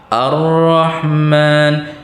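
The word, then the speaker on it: الرحمن: Jadi kita tahu aja bacanya a. Ar-Rahman, Ar-Rahman. Kemudian untuk hamzah wasal ini bila nya dimulai di awal kalimat maka barisnya menjadi fathah Ar-Rahman.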